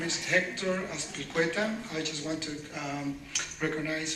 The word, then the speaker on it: Azpilcueta: a leader in Unite Here, Local 483, Hector Azpilcueta. Thank you, my friend Philip. Hi everyone, my name is Hector Azpilcueta.